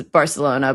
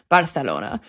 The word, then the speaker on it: Barcelona: If an English person says Barcelona, they sound pretentious. But also, I don't know how that name is pronounced in Catalan, and they're proudly Catalan in Barcelona. But in Castilian Spanish, yeah, it's Barcelona.